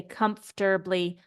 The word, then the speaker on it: comfortably: I pronounce the word comfortably this is often very hard for language Learners to for English Learners to pronounce correctly we don't say this o we pronounce it like